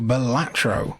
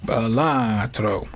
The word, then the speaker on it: Balatro: It is a dangerously addictive little digital gem, and it's very fun to say it like how Brad Pitt says Gorlami in Inglourious Bastards. Balatro.